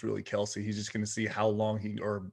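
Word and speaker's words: Kelce: So when did Kelsey go? Oh, Kelsey was the first overall pick in mine. Overall, yeah. Oh, apparently today Travis Kelsey came out and said it's pronounced Kels.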